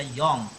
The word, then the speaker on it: Jong: Kenapa kok Jong tulisannya JO? Bacanya benar nggak ya? JONG. Ada yang baca Jong, ada yang baca Yong. Dari bahasa Inggris juga Yong, muda.